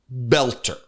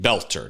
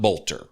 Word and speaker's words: Boelter: weekend with Vance Luther Belter. Now everybody's calling him Belter, not Bolter. I'm going to try to change the way I pronounce the word because I want to say it right. Belter.